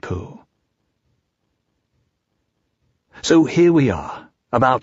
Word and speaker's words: Pooh: to in various ways poo by the way is pronounced sort of like poo but without so much ooh like the sound you make when blowing a bug off your arm on a hot summer day before we bring our